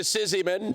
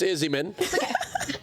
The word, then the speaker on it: Izzyman: Izzyman, commonly mispronounced to Sizzyman, but it's Izzyman.